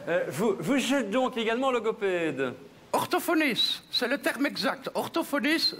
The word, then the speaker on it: orthophoniste: Bien, votre parcours est impressionnant parce que vous êtes grammairienne linguiste, logopède orthophoniste, donc... Orthophoniste. Bien prononcer les consonnes, monsieur de Warzé, orthophoniste. Là, vous avez omis le T final. Ah, c'est orthophonite.